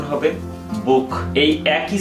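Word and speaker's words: Buch: সে হাটি vowel উর পরে আছে তাহলে এর উচ্চারণ হবে বুক এই একই সে হার উচ্চারণ হবে সেটা কিভাবে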